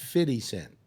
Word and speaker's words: 50 Cent: to pay a dollar it's pronounced fitty cent Annie always or or just now always always supposed to be I think he's given up on that though it's not Frenchy it's fitty what's his name Don drill John